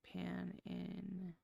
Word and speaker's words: Panigale: Pronounced Panigale. Gal, like girl.